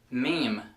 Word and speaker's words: meme: into the same category meme m m you know those creative pictures with funny captions yes it's pronounced like meem not Mimi number 19 if you